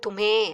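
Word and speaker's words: तुम्हें: நே சோ தும் அப்படிங்கறது தும்ஹ அப்படிங்கிற மாதிரி வரும் தும்ஹ சோ அந்த ஹ சைலெண்ட்டா அதாவது பேசும்போது அந்த ஹே வை சொல்லி பேசுறது கஷ்டமா இருக்குங்கிறதுனால அதை அவ்வளவா உச்சரிக்காமலே சொல்லிடுவாங்க சில இடங்கள்ல தும்மே அப்படித்தான் கேட்கும் ஆனா தும்ஹேன்னு இருக்கும் தும் அது வந்து நீ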